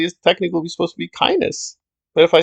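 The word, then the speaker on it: Kynes: might not be true to take one case which people don't know kines and the dune saga that's not how herbert pronounced the name he actually pronounced it kindness so there you go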